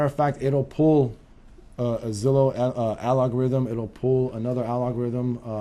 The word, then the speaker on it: Zillow: Rhymes with Willow. Don't go there. Go to this site because this will give you the real McCoy. The real. And as a matter of fact, it'll pull a Zillow algorithm.